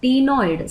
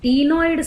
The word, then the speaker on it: ctenoid: Then skin is covered with 3 different types of scales: cycloid scale, ctenoid, C is silent here, and ganoid scale.